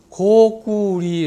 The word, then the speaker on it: 고구리: 민주 예수의 우리나라의 나온 민중 에센스 사전에 보더라도 고구리 라고 읽게 되어 있습니다 일부 사람들 다 고